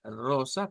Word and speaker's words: rosa: y y luego la rosa pues va a sonar con rosa rosa con una o corta más la r gutural o bien lo podemos